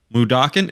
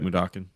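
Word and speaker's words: Mudokon: plant on odd world mudoken that's how you say it right mudakin okay I'm gonna take this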